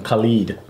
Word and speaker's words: Khaled: Pronunciation, Khalid.